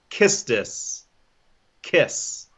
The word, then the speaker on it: Quistis: that I learned today it is kiss kiss kiss because there's the cue sound is in Japanese so kissed it that's crap